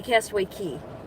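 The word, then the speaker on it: Castaway Cay: It's I say Castaway K and it's spelled C A Y, but it's supposed to be Castaway Key.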